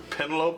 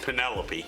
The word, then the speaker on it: Penelope: Pentaloupe is good. Or wait, say it right. Penelopey.